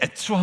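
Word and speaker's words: עץ: 그래서 이 츠 발음으로 운율을 맞춘 거죠. 우리말이나 영어 번역에는 다 그런 것이 날아가 버리지만 이 에츠와 모츠를 비교하는 겁니다.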